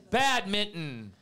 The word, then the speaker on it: badminton: Badminton. This is spelled with an N, not mitten.